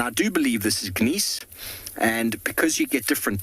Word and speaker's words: gneiss: And that metamorphic process would have transferred the granite into something known as gneiss. It's very nice, gneiss, however you want to pronounce it.